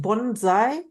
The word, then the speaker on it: Bonsai: and you have to help me is it pronounced Bonsai perfect oh thank you so much you are